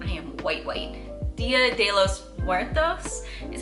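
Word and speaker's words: Día de los Muertos: Dia de los Muertos is how you pronounce it.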